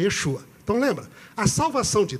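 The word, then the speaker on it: ישוע: A palavra salvação, em hebraico, é a palavra, se pronuncia Yeshua.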